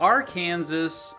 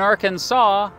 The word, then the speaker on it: Arkansas: Why is it pronounced Arkansas here and Arkansas everywhere else? Simply put, it comes down to how both first got their names.